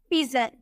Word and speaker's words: pigeon: लेकिन अगर हमें बोलना हो PIGEON, जी के बाद आपको ई नजर आ रहा है तो इसे हम बोलेंगे पिजन, जौ में प्रोनाउंस करेंगे, पिजन बोलेंगे।